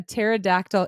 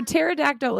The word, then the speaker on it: pterodactyl: So pterodactyl is spelled Pterodactyl. So the P in the front of the word is silent.